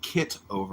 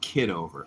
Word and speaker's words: Kitover: The name is spelled kit over, not kid over.